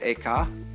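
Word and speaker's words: Eka: the second was named ekkar i'm using the japanese pronunciation who was formerly a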